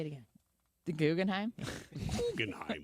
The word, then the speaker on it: Guggenheim: Guggenheim. Guggenheim.